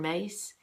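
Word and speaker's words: Myss: guess it was Caroline mace my SS and some of her work as Caroline spelled Caroline she pronounces it Caroline mace my SS talked about the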